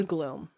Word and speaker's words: Glum: I think it's pronounced Gloom because she's like the goddess of doom, isn't Gloom. She? You're right. Glum is how it's spelled, but it is Gloom.